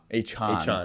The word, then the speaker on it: Achane: Achane or Achon? Achon. That's what he wants to pronounce.